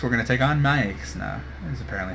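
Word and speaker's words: Maexxna: but uh next we're going to take on Mya is apparently how you pronounce it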